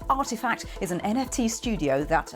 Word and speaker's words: RTFKT: bought a company that makes virtual sneakers rtfkt pronounced artifact is an nft studio that alongside footwear builds